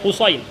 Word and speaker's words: Husain: dia tulis Husain lah Sebenarnya dia bukan Husin dia Husain Husain dengan huruf sad beza dengan Husin dia tanya kat Nabi